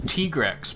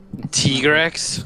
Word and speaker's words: Tigrex: It's pronounced Tigrex, but I don't give a shit. Tigrex.